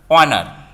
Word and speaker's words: honor: so h is here given silent honor what honor our in such cases we use the article